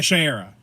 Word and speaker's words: Shiera: Although it was nice to hear Shia or how do you pronounce Cockrell's name? Shiera? Yeah, Shiera.